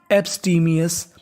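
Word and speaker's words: abstemious: लिखा है ओ यूएस ओ यूएस को पढ़ते हैं इंग्लिश में अस यानी आपको इंग्लिश में कहीं पर ओ यू एस लिखा मिले तो उसका उच्चारण होता है अस तो पूरी मीनिंग कैसे पढ़ते हैं?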